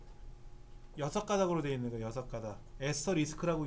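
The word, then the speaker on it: asterisk: 에스터리스크라고 읽는데 대부분 다 별표라고 읽다 보니까 키보드도 별표처럼 그려진 것 같아요.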